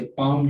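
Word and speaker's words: palm: और इसी तरह से पाम जो है उसमें एल जो है वो नहीं आती।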